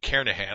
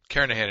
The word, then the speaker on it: Kernighan: We will be using the Kernighan and Ritchie, or Kernighan, I should say, the G is silent, Kernighan and Ritchie C programming language book that you see down there in the right corner of the screen.